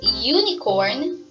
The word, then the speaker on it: unicorn: But when we pronounce the word unicorn, the first or beginning sound of it is Y.